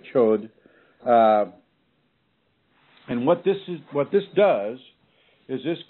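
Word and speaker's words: Chöd: That's spelled C-H-O with an umlaut and D. So the chud or chod.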